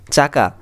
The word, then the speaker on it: চাকা: চাকা, ছাকা না, চাকা। এইভাবে প্রত্যেকটি বিষয় কিন্তু এখানে বলা আছে যে কোন শব্দগুলো কীভাবে উচ্চারণ করতে হবে।